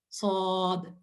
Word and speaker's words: ص: صرف ایک لیٹر سے، اور یہ حروف مقطعات میں سے ہے کیونکہ it will be pronounced as just صاد، right؟